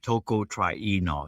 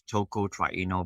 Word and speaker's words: tocotrienol: company okay you would want to take a Toko try Eno so the vitamin E is tocotraino vitamin E uh it is it's spelled t-o-c-o -t-r-i -e-n-o-l so if you just